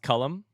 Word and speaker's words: Colm: Holy Pronounced Cullum.